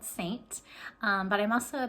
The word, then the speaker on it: Seint: s-e-i-n-t um it but pronounced saint just like the church and that's where it